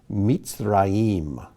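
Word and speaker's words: מצרים: And he was the king of Mitzrayim, Mitzrayim, which is the Hebrew name for Egypt.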